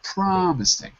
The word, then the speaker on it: promising: sorry that sounds very promising prom promising first syllable promising promising yes one of